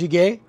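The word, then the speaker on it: 찌개: dish kimchi soup or kimchi's too it's pronounced shige and basically it's like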